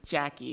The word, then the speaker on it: Jackie: thank you and my apologies Miss Torres for mispronouncing your first name and I for the record it's Jackie my my apologies okay I probably wrote it